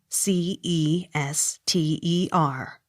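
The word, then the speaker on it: Cirencester: i r e n c e s t e r c ester accent on first syllable c l a n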